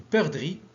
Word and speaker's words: perdrix: Une perdrix, c'est X.